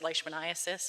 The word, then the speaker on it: leishmaniasis: that's the tongue twister I pronounce it leishmaniasis or leishmania because the the gentleman who first discovered it was um Dr leishman and that's where it comes from a Scotsman and